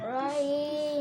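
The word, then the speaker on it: رحيم: রহিম রহিম রহিম রহিম হিম বললে হবে না, রহিম হ্যাঁ গলার মাঝখান থেকে বলতে হবে, জিমের পরে হা। রহিম রহিম গলার মাঝখান থেকে, ঠোঁটের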